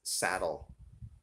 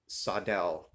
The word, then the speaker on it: Sadel: that has reviewed this and i think everybody pronounces this saddle it's actually not the correct pronunciation for this is sadel this is from sweden um so that's how they pronounce saddle in swedish is cydel so just a little trivia thing there um